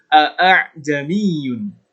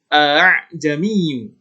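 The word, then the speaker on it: ءأعجمي: kita sudah paham atau cara membaca tasbih yang benar adalah dengan menegaskan Hamzah yang pertama kemudian melunakkan Alif yang kedua atau Hamzah yang kedua Bagaimana caranya seperti ini eh jamin er jamin jadi Alif yang kedua itu disamarkan dilembutkan tidak ditegaskan bukan eh jami'u tapi ah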